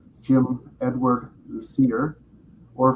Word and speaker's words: Lucier: full name, Jim Edward Lucier, or if you're French, it's pronounced Lucier, uh, like Garnier or Messier.